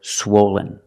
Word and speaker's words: swollen: swollen is an adjective for the first syllable use the long o like no and go swo swen swollen the second syllable is not stressed it sounds like this Lin Len swollen swollen the adjective is swollen